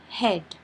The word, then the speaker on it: head: is silent for example head her here e makes the short e sound a and a is silent so when you read it it becomes h d head but there are exceptions